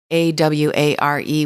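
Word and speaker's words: Awaré: So it's written like aware, Aware with an accent aigu on the E. So it's pronounced Aware.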